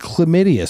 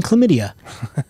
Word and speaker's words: chlamydia: had both of them he did not know that there was an h in chlamydia who knew like it's a silent h it's okay ben franklin